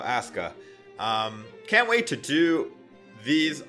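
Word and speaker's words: Asuka: Roman reigns and Aska somebody said it was pronounced Aska I don't actually watch WWE it looks to me like a Sukkah but apparently the U is silent so Aska can't wait to do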